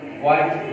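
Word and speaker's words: what: जब एच आ जाए तो एच अपनी साउंड साइलेंट रखता है, वाई, वाट, यहाँ भी एच की साउंड अदा नहीं हो रही।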